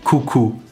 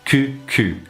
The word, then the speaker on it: coucou: top of this video, which was coucou, coucou, or as I incorrectly pronounced it, cu. So as we've already seen from beaucoup, if you mispronounce ku as ku, it sounds like arse or bum. So you end up with bum bum, or arse, cuckoo. So make sure you're rounding that sound, ku.